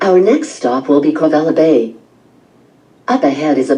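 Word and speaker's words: Kawela: In the Hawaiian language, the letter W when it's in the middle of a word is pronounced like a V, so this is pronounced Kovela.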